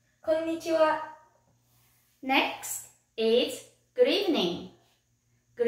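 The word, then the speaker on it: こんにちは: how to say hello hello in japanese it's konnichiwa konichiwa next is good evening good evening in japanese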